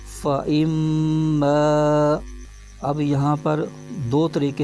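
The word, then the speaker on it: فإما: دو زبر عن، جمیعن، فا زبر فا، حمزہ، میم زیر ام، فَإِم، میم الف زبر ما، فَإِمَّا۔ اب یہاں پر دو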